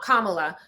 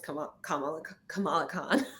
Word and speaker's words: Kamala: excited the first time let me say her name right, because I'm always like Kamala. Great, I said it right. Kamala, not Kamala. Kamala is Kamala Harris, just and Kamala is Kamala Khan.